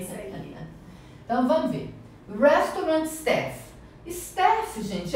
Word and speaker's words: restaurant: Então, o R, ele tem som do R paulista, né? Até eu brinco que é igual o Faustão, que ele fala, vocês lembram? Ronaldo, Romário, é esse R que a gente vai pronunciar. Então você vai falar restaurant.